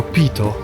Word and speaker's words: Peyto: Pierwsza rzecz to nie jest po tylko pito lake. Tak to się tak tak to się wymawia.